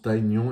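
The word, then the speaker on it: Tygnon: Donc pour l'anecdote, Kikli à Bruce Lee et Tignon en fait on prononce taon et c'est Matt Tyson.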